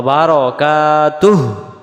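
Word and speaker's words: بركاته: ফেলি ওয়াবারাকাতুহ ওয়া বারাকাতুহ বারাকাতু পড়লে বার জবর বার হবে উচ্চারণ হবে ওয়াবার যেমন নয় দশ 11 12 এমন হবে কাতুহ পড়ি আমরা এই হুটা আমাদের উচ্চারণ বাদ চলে যায় এখানে যদি হু বলি দম ছাড়া যাবে না দমটা ছেড়ে দেওয়া বারাকাতুহ এমন হবে মানে তার তখন বারকাতু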